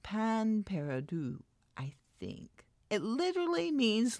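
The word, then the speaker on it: pain perdu: a final use before throwing it away huh pain Peru and it's pronounced pan Peru I think it literally means lost bread and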